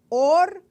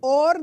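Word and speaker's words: עור: son es interesante que la palabra piel y la palabra luz en hebreo suenen iguales pero se escriben diferente or piel or luz el or or de piel empieza con una a y or de luz empieza con una Alf entonces pasaron de luz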